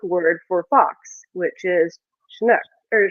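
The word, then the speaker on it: sionnach: basically the Gaelic word for fox which is shinook or shinook. So yeah, and it's spelled uh s i o n a c.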